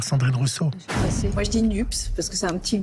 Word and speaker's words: NUPES: Alors Valérie, il va falloir s'habituer à prononcer ce nom du groupe toute cette semaine, NUP ou NUPES. Alors pour démarrer, ce petit truc donné il y a 15 jours par Sandrine Rousseau. Moi je dis NUPS parce que c'est un petit côté cacahuète grillée